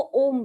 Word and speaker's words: ओम: बना ले यदि उसे हम, और संसार में जितने मनुष्य, जितने प्राणी हैं, वो सभी लिखने बैठ जाए, तब भी ओम की महिमा को नहीं लिख सकते।